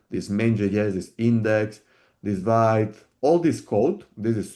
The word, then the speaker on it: Vite: slide This essentially what vit I think is pronounced vit in French uh is actually doing it transforms it builds your source code into distribution.